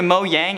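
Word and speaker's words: Mojang: the game according to mo yang and yes that is the proper way to say it because it is a company that is swedish quote minecraft legends is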